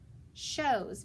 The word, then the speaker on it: shows: underline those two letters my o is going to be long and my w is silent okay so it says o so sh os shows very good listen to